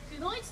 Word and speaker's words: 九年一組: 私たち仙台を拠点に活動しております、9 年 1 組と書いてくのいちと申します。